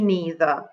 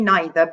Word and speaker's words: neither: me neither or me neither okay me neither both both pronunciations are correct neither and neither you will hear neither in Great Britain whereas neither would be used more in the United States so me neither or